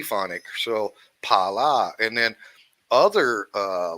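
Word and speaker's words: Phala: l a right and the H is silent of course so it's not a f- f fonic right it's just a PP P ponic so Pala and then other uh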